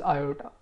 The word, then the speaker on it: iota: Okay, so this is the actual pronunciation of this I is iota. Okay, but the convention, or usually we don't pronounce it iota, we just say I.